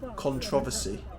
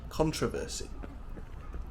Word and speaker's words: controversy: brochure in American English British people say controversy whereas Americans say controversy another one is British